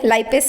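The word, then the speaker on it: lipase: तो हमने लिपेस जो है उसको चूज़ किया, लाइपेस इसको बोलते हैं, लिपेस जो भी आपकी प्रोनाउंसिएशन है, लाइपेस भी बोल सकते हो।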